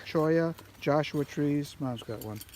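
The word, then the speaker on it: cholla: True Mojave Desert survivors, Chala, top pocket for me, Chola, how do we pronounce that word? Choya. Choya, Joshua trees, Mom's got one, lizards, and hawks remained, adjusting to diminishing water.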